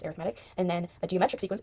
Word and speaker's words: arithmetic: A sequence or series can be either arithmetic or geometric. arithmetic or geometric. For some reason it's pronounced a different way. So an arithmetic sequence is just a adding sequence kind of.